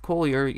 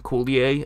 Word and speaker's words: Collier: much hockey because I keep wanting to call him Coulier I know that's not how it's pronounced but I just that's